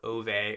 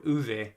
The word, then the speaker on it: Ove: And that was A Man called Ove or Uve, I think is how it's pronounced, uh by Frederick Bachman, who is one of my wife's favorite authors.